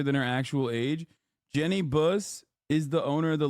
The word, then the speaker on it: Buss: Buss. It's pronounced bus, like a school bus.